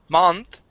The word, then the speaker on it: month: um let's go to the word month instead of ma month it is m month month okay very good okay